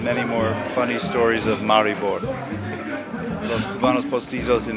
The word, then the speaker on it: Maribor: sure I'll have many more funny stories of Maribor. Los Cubanos Postizos in Maribor. So, did I pronounce it correctly?